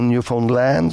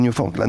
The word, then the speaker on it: Newfoundland: Vi var på Newfoundland, som de sier. Ikke Newfoundland, men Newfoundland uttaler seg.